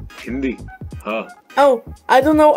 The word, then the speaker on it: Hindi: name of my language can you say hindi india not indi hindi huh oh i don't